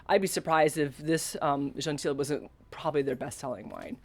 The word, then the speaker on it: Gentil: be surprised if this Gentil wasn't probably their best-selling wine. I asked my daughter for pronunciation help on Gentil, and because she's an avid French student, she left the L off basically.